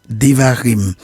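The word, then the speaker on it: דברים: Il est intitulé en hébreu Devarim, prononcé Devarim, c'est-à-dire paroles, qui sont les premiers mots du texte, ou Mishneh, Torah, la répétition de la Torah.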